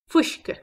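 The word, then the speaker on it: fuisce: Another word for whiskey in Irish is fwish-ka. Fwish-ka. Fwish-ka. Whiskey. Repeat after me. Fwish-ka.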